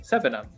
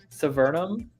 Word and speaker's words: Sevenum: the picture, GR8, and I think it's pronounced Sevenum. If I'm wrong, what was that? I'm wrong. Sevenum. Sevenum. I keep wanting to say Severnum because we live near Severna Park, but it's Sevenum.